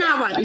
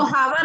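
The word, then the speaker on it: hour: He returned after an आवर, इसको हावर नहीं आवर बोलते हैं ना, ओ से स्टार्ट है, ये वेल से स्टार्ट है प्रोनाउंसिएशन, इसलिए एन आएगा।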